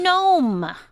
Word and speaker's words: Noem: Over the weekend, Kristi Noem, that's how you pronounce it, defended shooting her baby, tiny, fluffy puppy, Cricket, as described in the South Dakota governor's new memoir.